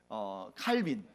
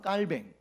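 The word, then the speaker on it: Calvin: 마틴 루터, 그 다음에 칼빈. 이건 칼빈은 영어식으로 발음해서 그렇고요. 원래는 이 사람은 프랑스 사람이기 때문에 장 깔뱅, 그 다음에 쯔뱅글리, 후스, 이렇게 여러 사람들이 있습니다.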